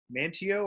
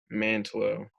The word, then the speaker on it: Mantlo: Mantio or Mantlo? Mantlo.